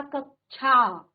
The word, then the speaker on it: कक्षा: ठीक है, जैसे हमने कहा कक्षा, छा नहीं होता, छा से छाता, छा, छा नहीं होता, कक्षा।